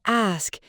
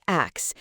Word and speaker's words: ask: The common mistake here is transposing the S and K sounds. So instead of ask with the S coming first, it often comes out as X, where the K sound kind of precedes to S or they're just swapped around. Yeah, it's almost like the brain wants to flip them. So instead of ask, people might say axe.